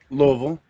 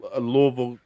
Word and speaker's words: Louisville: It should be Louisville because it's named after King Louis.